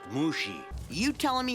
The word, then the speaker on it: Mushi: himself so Mr um Mushi is it it's pronounced Mushi you telling me how to do my job